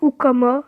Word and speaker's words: Houkama: Et je m'appelle Ukama, c'est écrit tout en bas au milieu. Je sais pas si vous voyez ici. Ukama. Et puis voilà. Hein. Ah, Ukama, pour vous préciser, ça s'écrit Houkama. Et voilà.